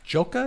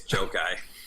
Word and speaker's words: Jokai: And in the upper right, we have Joka. Did I pronounce that right? Your last name? No, Chuck, but it's okay. It's Jokai. Jokai. It's hard. Nobody pronounces it right.